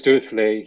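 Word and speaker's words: Duruflé: right yes next uh do you want to pronounce the composer uh directly yeah maurice durfley he was one of kosheros teachers actually at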